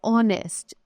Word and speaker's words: honest: Just like honest is beginning with H, right? But here H is silent.